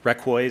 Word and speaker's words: Requa: Requa actually is how the tribe would pronounce it.